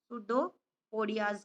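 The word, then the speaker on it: pseudopodia: होता है बेटा इसका शुडोपोडिया, पी साइलेंट है, सुडोपोडियाज के द्वारा।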